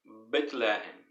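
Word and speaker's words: בית לחם: A palavra Belém, em hebraico, se pronuncia Bethlehem.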